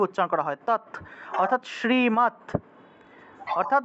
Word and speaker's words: শ্রী: করা হয়ে থাকে তাহলে শ্রীমত ভগবত ভগবত গীতা শ্রীমত ভগবত গীতা সবাই বুঝতে পেরেছেন শ্রীকৃষ্ণা শ্রী উচ্চারণটা হবে শ্রী আপনারা শ্রী বলে ফেলেন অনেকে শ্রী বলে সিরি হবে না এটা শ্রী শ্রী শ্রীমত শ্রীমত